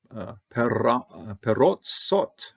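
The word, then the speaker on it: פרזות: Lemor, saying, Perotsot. I'll take this one as a commentative. It's a closed syllable. I'm going to pronounce it in an O.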